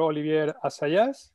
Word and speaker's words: Olivier Assayas: Dirigido por Olivier Assayas, así se pronuncia.